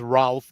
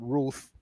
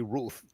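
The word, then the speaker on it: Routh: I thought his name was Ralph, but they pronounce it Ruth. Ryan Wesley Ruth.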